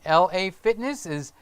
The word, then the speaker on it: LA Fitness: e OS just like ISO is ISO and la Fitness's LA Fitness even though all the Latin people around here call it la Fitness I'm going to LA Fitness where is LA Fitness oh down the road LA Fitness is down